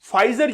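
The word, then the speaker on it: Pfizer: फाइजर जो company है, देखिए इसका नाम आप लोग देखिएगा, प्रोनाउंसिएशन देखिएगा, पी स्टार्टिंग में लिखा हुआ है, फिर लिखा हुआ है फाइजर।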